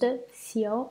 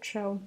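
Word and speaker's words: 臭: Commentary, the word for stench in Chinese is produced xiao or chou. Basically, it should be pronounced chou here, but when people hear that word, they immediately get a bad impression. So here we will pronounce it xiao.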